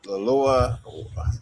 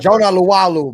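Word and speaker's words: Jonah Laulu: Um, the uh Lua, however you say his name, Jonah Lalu, bro.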